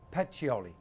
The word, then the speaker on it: Pacioli: How do you pronounce his name? Pacioli.